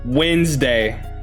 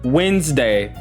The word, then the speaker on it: Wednesday: Wednesday. It's just like how you pronounce it. Wednesday. But how it's spelled is Wednesday.